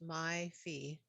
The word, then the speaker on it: Mai Fai: Um, I'm going to butcher the name, so I apologize if I mispronounce anybody's name. It's M-A-I, so May Fay. Yes, it's my fee.